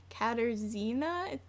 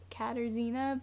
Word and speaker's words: Katarzyna: say her name wrong katarzyna it's like Catarina but with Izzy katarzyna primo in 2018 that